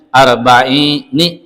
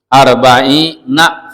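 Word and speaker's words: أربعين: waq jawzual hadal ar jadi nunnya kasr Dan itu nun pada mulhaq bijamil mudzakari salim gitu. Jadi bacanya arbaini gitu. Kalau baca yang kebanyakan arbaina fathah itu ya salatuna salatina arbaun arbaina.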